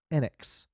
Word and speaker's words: Enix: yeah now that said any japanese enix title where they pronounced the name they always said it enyx so either they didn't